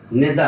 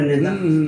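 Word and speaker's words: نداء: নেদা, হরফে নেদা। আসলে হবে নিদা। কিন্তু বলে যে উচ্চারণ হবে নেদা।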